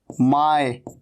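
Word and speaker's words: my: माय। इसे माई नहीं कहना, माय, ऐसे नहीं कहना इसको, माई, माई नहीं, माय।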